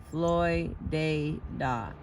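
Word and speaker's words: Floydada: God would destroy Floyd, which is incidentally pronounced Floyd dea, not like the art movement.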